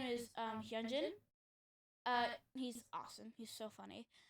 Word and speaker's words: Hyunjin: So one of the members' name is Hyunjin. He's awesome. He's so funny. And I pronounced his name as Hyjin.